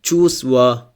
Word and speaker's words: Чувства: In Чувства too we do not pronounce the first letter V.